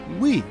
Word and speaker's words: Wii: unique at the time the Wii is pronounced as we which emphasized the console